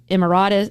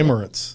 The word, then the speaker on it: Emirates: Officials noted possible ties or travel to locations including Houston, Atlanta, Delray Beach, Florida, Dubai, the United uh Arab Emiratus. How do you say Emirates?